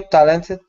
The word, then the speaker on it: talented: Murphy's needed someone good natural, and still talented magically. Okay, very good. Now this word here is pronounced talented, stressed at the very beginning.